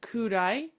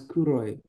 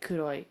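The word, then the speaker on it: 黒い: So you read this word right here as kudai, but it's pronounced a little bit different for black. As kuroi. Hi, kuroi.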